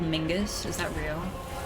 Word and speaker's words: Mingus: Is Norman Reedus' son actually called Mingus? Is that real? His name is Mingus. Mingus, not Mingus, right?